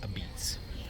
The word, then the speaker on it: Apizza: Sally Apizza is how it's pronounced it. Although it does say, it does spelled as Apizza, but it's pronounced Apizza.